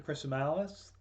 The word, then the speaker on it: Chrisomalis: Chrisomalis. That's a bit of a mouthful, but the way I tell people to remember it is that it rhymes with gristle malice, which is two things.